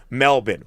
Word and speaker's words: Melbourne: We pronounce it Melbourne. One of my wife's cousins, her husband is from Sydney. I ran this by him. He agrees Melbourne.